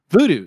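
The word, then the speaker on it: Vudu: you can watch on uh v video voodoo voodoo thank you voodoo i'm terrible pronouncing words voodoo voodoo and crackle uh it was released in japan on march march 12th 2016.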